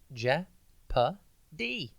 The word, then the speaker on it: jeopardy: tv today's word is jeopardy it's pronounced ja pa d and it is spelt j e o p a r d y think jep then odd and then why jeopardy means danger of